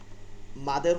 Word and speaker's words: মাদ: মদ বলাটা আমাদের জন্য সহি না। এটা যেহেতু এক বাংলা ভাষা, এটার একটা অর্থ আছে, অন্য অন্য বিকৃত অর্থ আছে, এজন্য আমরা মদ কখনো বলবো না, এটা আরবিতে উচ্চারণ করে বলবো আল মাদ, মাদ, মাদ।